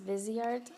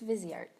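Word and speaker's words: Viseart: the busy arts logo I think that's how it's pronounced Vizier I've heard debates that's busy art versus visored wiser it does sound nice but I think it's busy art in any case there's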